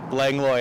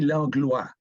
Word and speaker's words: Langlois: Langlois Avenue. Okay, well, it should be Langlois. O-I in French is pronounced wa.